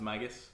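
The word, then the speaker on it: Migis: my just uh mike it's pronounced magus magus magus we should get that right for any sponsorships uh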